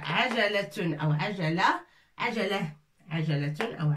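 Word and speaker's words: عجلة: Vous voyez, toutes les lettres contiennent fatha, fatha, fatha, fatha. A, ja, la. Tun, a, ja, la. Tun et tun pour le féminin.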